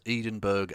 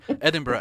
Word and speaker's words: Edinburgh: thank you to uh i'm going to mispronounce it as edenberg and because i know scottish people take that very well edinburgh andy thank you for